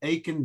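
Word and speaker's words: Aitken: It's down by the South Pole, and it's called Aiken Basin. like Aiken, South Carolina. It's A-I-T-K-E-N. I can't pronounce it, but the Aiken Basin is on the far side.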